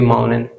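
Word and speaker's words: mountain: आ रहा है तो हम उसमें टी को साइलेंट करेंगे। फाउंटेन, हम बोलेंगे फाउंटेन। माउंटेन बोलेंगे माउंटेन।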